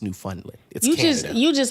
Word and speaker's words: Newfoundland: was it Newfoundland mm-hmm it's pronounced new funnily because you just say